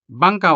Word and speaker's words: bangkaw: In the example Bangkaw, the diphthong ow is found at the end of the word, but it is also the final sound of the syllable kau.